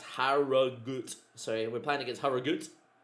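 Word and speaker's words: Harrogate: And Harriate is pronounced Harut.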